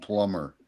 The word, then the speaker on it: plumber: And and what about like the B and plumber? Do you pronounce that? Oh, absolutely. Yeah, Not. plumber. Plumber. Absolutely not.